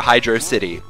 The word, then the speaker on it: Hydrocity: Sky, just so we can get this out of the way straight away, how do you pronounce this level's name properly? Hydrocity!